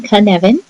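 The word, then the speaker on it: Cynefin: professional learning so Canan is a Welsh word pronounced as I'm saying Canan and it literally means a place or a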